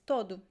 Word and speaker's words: todo: but the most common pronunciation is todo todo it's a very weak uh sound at the end so that happens at the end of uh of words when the syllable is weak okay weak syllable so the word todo the syllabus the first one the second one is weak so that happens because it is a very weak o sound it becomes it's